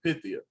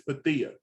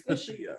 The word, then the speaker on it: Pythia: of people mispronounce her name and they say Pythia, but the actual pronunciation is Pathia. Why didn't she correct nobody in the room? I would have. I'd be like, it's Pathia.